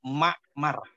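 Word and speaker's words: معمر: Maka selain 3 ini, maka semuanya dibaca Ma'mar. Itu kaidahnya. Selain 3 orang ini, maka dibaca Ma'mar. Kecuali 3 tadi, maka dibacanya Muammar.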